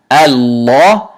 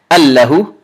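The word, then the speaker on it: الله: top of it, but this lam fatha is actually pronounced as if it is a alif saghira. So you don't say Allahu. This is not, the word is not Allahu. The word is Allahu.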